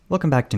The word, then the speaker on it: Tours: out that's not that the region in France is not pronounced like the word tour something closer to what I just said the bus departed from